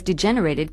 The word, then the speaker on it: degenerate: person whose behavior has degenerated can be called a degenerate notice the pronunciation is different it can even be